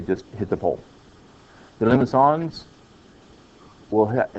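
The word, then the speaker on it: limaçon: Let's see, that's not a C, it's a whatever, I don't know what you call it in French. Something like that. But it's pronounced limicon.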